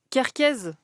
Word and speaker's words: Kerkez: Les latéraux, on en a un tout petit peu parlé, c'est Kerkez. C'est comme ça Kerkez. Kerkez, Ouais. c'est comme ça qu'on prononce.